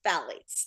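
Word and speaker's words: phthalates: said the word is Fates thank you he the t is silent he says so that's one of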